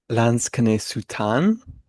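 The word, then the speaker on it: Lansquenet-sous-Tannes: Tommy, can you help me pronounce this? Lans can sutan.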